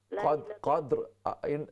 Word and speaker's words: قدر: ادراک ما لیلۃ القدر۔ قدر اینڈ میں آخر میں را کی آواز ہونی چاہیے، را ساکن ہے، را کا تلفظ کریں اس کو۔ وما ادراک ما لیلۃ